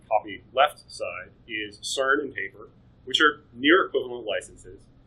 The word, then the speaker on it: TAPR: So your three major options there are Taper, which is spelled TAPR, the CERN open hardware license, so kind of like we mentioned, CERN with KiCad before, and SolderPad.